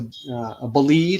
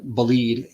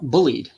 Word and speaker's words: Bolide: But when I first saw bolide, I thought bullied. I mispronounced it.